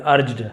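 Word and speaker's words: urged: देखिए जी के साथ ई हो, आई हो या वाई हो तो ज बन जाता है, ग नहीं बोले, अर्ग नहीं बोलेंगे, अर्ज्ड, है ना।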